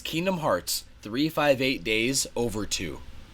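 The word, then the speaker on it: Kingdom Hearts 358/2 Days: Is Kingdom Hearts 358 Days Over 2. I'm not kidding. That is actually how you say this.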